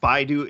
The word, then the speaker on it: Baidu: to formulate it correctly speak to me about baidu speak to me about the the chinese google about are we going to be using that how does it work just very briefly so baidu is the chinese google right and and the